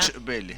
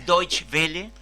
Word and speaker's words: Deutsche Welle: No pronuncio bien, ¿cómo es la alemana? Deutsche Welle. Deutsche Welle.